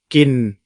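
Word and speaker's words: กิน: Et enfin, la consonne initiale est moyenne, ce qui nous donne un ton plat. Et voici comment il se prononce. kin Maintenant, si vous allez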